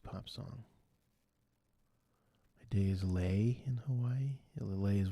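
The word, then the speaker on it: lei: song my day is lay in Hawaii is one of those Hawaiian floral necklaces that rhymes with day May May Day is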